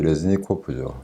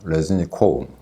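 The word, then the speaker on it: Рєзніков: 말씀드리겠습니다 우크라이나 국방장관 롤렉스 레지니코프죠 레지니코우 크라이노 어른은 그렇게 발음합니다이 사람이 경질 되었습니다 근데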